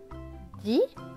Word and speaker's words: dit: Je me cache avec Mario, virgule, donc une pause, dit, là le T est écrit en gris, donc il ne se prononce pas, Charlie, le E à la fin est écrit en gris, donc il ne se prononce pas.